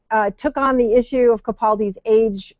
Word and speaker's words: Capaldi: pre-show that i guess his name is pronounced capaldi so so uh i